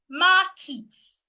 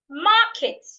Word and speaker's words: market: Another person will say marit. No. In this word there are two syllables. So one of these syllables has to be stressed while the other should not be stressed. Market not markets.